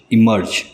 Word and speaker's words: immerge: इमर्ज, इमर्ज, दोनों words के pronunciation same है।